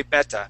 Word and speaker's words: better: That's how in England they would say beta instead of better, like we would say better, okay?